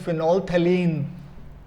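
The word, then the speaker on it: phenolphthalein: Phenol यहां तक बोलिए, पीएच बीच में छोड़ दीजिए, फ नहीं बोलना। This is फिनोल्फथलीन, फिनोल्फथलीन।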